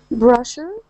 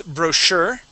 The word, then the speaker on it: brochure: Brusher, Cash, Cashits, Chargrin, Champin. Okay, so the first one is Brochure.